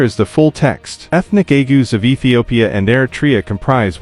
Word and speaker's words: Agaw: In historical literature, the term was commonly spelled as Agaw and pronounced locally as agew, both being interchangeable.